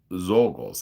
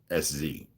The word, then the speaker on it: Czolgos: The trial of Zolgos, it's Czolgos.